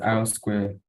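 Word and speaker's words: R²: So we have the R2 score, which is pronounced as R square, that's coefficient of determination.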